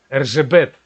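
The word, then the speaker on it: Erzsébet: Ну или, если правильно, опять же, она венгерка, Эржебет. Кажется, так правильно ее имя читается.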